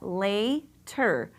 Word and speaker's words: later: So we've got later. Later. Excellent job. This is an open syllable, so that A is going to say its name.